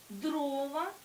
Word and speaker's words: дрова: жалюзі чи жалюзі розглянемо варіант а дрова наголос падає на перший склад цей варіант нам не